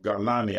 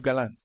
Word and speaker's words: Gallant: former defense secretary, Yoav Galani, I believe. Maybe I'm saying his name wrong. Right. Yoav Gallant. Okay, Gallant.